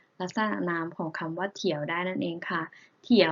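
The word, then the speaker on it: 条: ตัว ต่อ ไป นะ คะ คือ คำ ว่า เถียว เถียว เถียว นัก เรียน แล้ว ออก เสียง สิ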